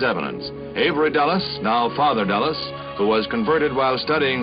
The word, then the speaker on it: Dulles: The pronunciation is Dallas. I don't want to say anything. No, no, but you're right. It's like the airport in in Washington dedicated also.